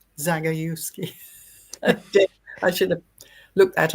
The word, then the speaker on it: Zagajewski: But I will, like, now how's it pronounced? Jagodziewski. Is that right? Jagodziewski? Zagajewski.